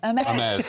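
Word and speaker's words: Hermès: Have you got an Hermes? Is that how you pronounce it? Oh, I wish I had an Hermes. Hermes, sorry.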